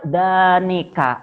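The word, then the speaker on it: ذانك: Kalau dua orang, danika atau dainika. Danika atau dainika dibacanya ya.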